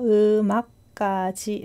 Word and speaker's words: 음악까지: 발음은 보면은 음의 미음 받침이 악의 이응 자리로 가서 음악까지 라고 발음합니다.